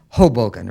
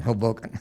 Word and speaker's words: Hoboken: which you made reference i think is pronounced hoboken rather than hoboken okay my question though